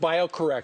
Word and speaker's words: BioCorRx: It's pronounced bioorrect should spell it this way.